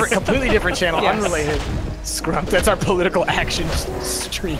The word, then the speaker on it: Scrump: Scrump. That's our political action stream. Yeah. We're gonna need to like retroactively. But it's pronounced Scrump.